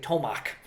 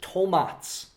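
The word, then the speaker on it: Tomac: If you see a C and there's nothing above it, it's pronounced like TS. Whereas like this producer, a lot of people in English speaking would say tomak. This is tomats. This is the proper way to pronounce it.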